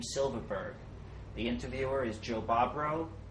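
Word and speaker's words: Silberberg: And my maiden name was S-I-L-B-E-R-B-E-R-G, Silverberg.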